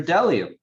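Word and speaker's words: bdellium: to have a feast b is for dellium we doubt anybody knows what dellium is but it's the only word dumb enough to begin with the silent b i want to make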